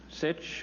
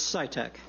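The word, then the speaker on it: Sitek: time next we have sich or sita followed by patty and then laurie levi or levy is here welcome to the senate oversight committee sir i'm really sorry about my mistakes in pronouncing your name it's scitec scitec yes thank you oh you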